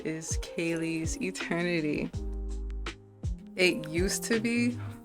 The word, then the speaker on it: Kalees: But um in like 2017, I was like, "Nah, I want it to be Kayle's Eternity."